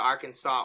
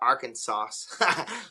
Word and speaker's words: Arkansas: at the beginning of Arkansas no I nobody messaged me well somebody messaged me about that but it was funny the S is silent I called it Arkansas so but it's a